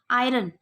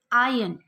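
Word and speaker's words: iron: 113 देखते हैं अगला, आयरन, इस्त्री करना। इसको लोग आयरन प्रोनाउंस करते हैं, बट ये गलत प्रोनाउंसिएशन है। आयन, आर साइलेंट है।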